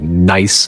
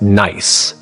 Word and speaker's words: Nice: Instead, it unfolded over millions of years through a mechanism astronomers call the NICE model, named after the French city where it was developed, but pronounced nice rather than nice.